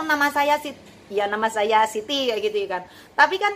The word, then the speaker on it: Siti: Tapi sekarang alhamdulillah dari imigrasi sendiri tahu kalau Siti itu memang Siti bacanya ya, bukan Saiti kayak gitu kan ya.